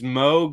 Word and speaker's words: Moog: And then the way to remember that is it's Moog like in Vogue.